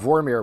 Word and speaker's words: Vormir: went to exactly wow vormir we said it wrong on a previous podcast it's vermeer not vermeer vermeer is the painter the guy who did